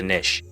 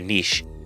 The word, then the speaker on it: niche: go deep into a niche or a niche, depending how you want to pronounce that, niche or a niche.